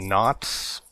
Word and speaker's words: Knautz: It's directed by Jon Knautz. I want to say that's how you pronounce it.